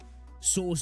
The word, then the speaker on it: Source: Source like horse with an S. Source. Source.